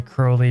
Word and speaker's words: Crowley: want to do that I only say Crowley because in his uh he would often like rhyme his name in his poetry with holy and Crowley rhymes with holy but proudly doesn't rhyme with holy so tomato tomato say